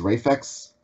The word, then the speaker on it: Raphax: Okay, so that's how you say it's Raphax?